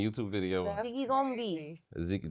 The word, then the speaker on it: Ziggy: Ziggy, that's how they say it.